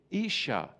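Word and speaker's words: איש: It's the Hebrew word Aish. And wife is spelled Aleph Shin Hey, Isha.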